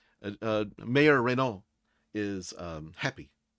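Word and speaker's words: Rainault: R A I N A U L T Reo. Yeah. Uh, Mayor Reno is um happy.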